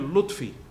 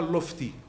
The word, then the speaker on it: Lotfi: Le deuxième point, c'est que je m'appelle Lotfi, je ne m'appelle pas Lofti. Or, il n'y a qu'une langue occidentale qui peut faire une erreur pareille, prononcer le terme Lofti.